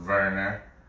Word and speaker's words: Werner: It's spelled Werner, but it's pronounced Werner. Because like I told you, the W in Germany, my wife told me the W's are pronounced with a V sound.